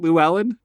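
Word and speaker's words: Llewelyn: who plays a dude named Le lelin luin Luellen Luellen yeah yeah L is that how you pronounce it Lou Allen yep they say it multiple times in the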